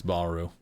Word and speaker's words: Bahroo: Pronounce it Bahroo or Bahroo? It's Bahroo.